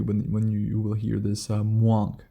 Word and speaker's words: mwonk: When rhinos are happy, they vocalize it as what is described as a mwonk sound. That is spelled M-W-O-N-K and pronounced exactly how you would think.